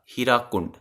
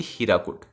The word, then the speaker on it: Hirakud: The name of the dam is mostly mispronounced is North India Hirakund, which is actually Hirakud.